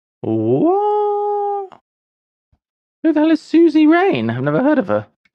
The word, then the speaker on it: suzerain: A Susie Rain. Well, let's get the pronunciation. Suzerain.